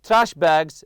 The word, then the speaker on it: trash bag: throw a couple of trash bags and your backpack for dirty laundry so we have here trash bag trash bag you put the stress on the first part also backpack backpack always